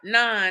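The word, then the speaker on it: naan: calorie bread you said it's a non bread nonan it's spelled n a a n bread that's the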